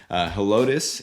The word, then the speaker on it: Helotes: Helotes, Helotes is something I hear quite a bit.